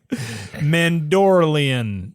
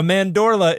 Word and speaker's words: mandorla: I think Have you're you heard that pronouncing it word? wrong. Mandala. No. Mandorlian. No, The Mandorlian. Mandorlian. No, a mandorla is an almond shape.